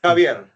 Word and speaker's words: Javier: Maybe tell me Javier, how do I pronounce your full name so that I can get it right now? Javier.